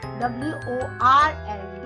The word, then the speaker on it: world: w o r l d, it becomes world when we pronounce it. R is silent in British accent.